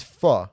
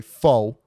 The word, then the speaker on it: pho: It's fu. Let's put that. But I say it the North American way. Fo.